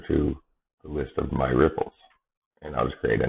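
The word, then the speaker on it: Replit: I've mentioned this before ripple ripple got IT repl and we pronounce that ripple so this is an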